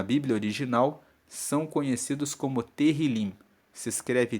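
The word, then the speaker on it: תהלים: no livro na Bíblia original são conhecidos como terim se escreve t e h i l i m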